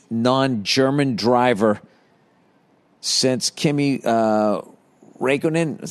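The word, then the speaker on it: Räikkönen: by the way congratulations to max verstappen who won the formula one championship the first non-english non-german driver since kimmy uh raikkonen is how you say his name it's only a legend who retired today in 2007.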